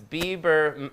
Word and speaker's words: Bieber: I don't know if he's gay because it's Bieber rhymes with beaver.